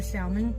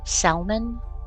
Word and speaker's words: salmon: you know here's a salmon she cooks for animals but and who pronounces the L in salmon salmon is it salmon rushy